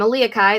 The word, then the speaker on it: Elia Kai: from my audience hi i'm elia kai that's how you pronounce my name uh and i am